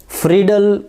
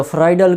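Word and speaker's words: Friedel: और उन रिएक्शन को नाम दिया गया है फ्रीडल क्राफ्ट रिएक्शन या फ्राइडल क्राफ्ट रिएक्शन। तो आप जो भी नाम प्रोनाउंस करना चाहें, साइंटिस्ट के हैं, नाम अपनी मर्ज़ी से प्रोनाउंस करेंगे।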